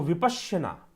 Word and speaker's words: विपश्यना: तो विपश्यना यह उचित प्रोनाउंसिएशन है उसका।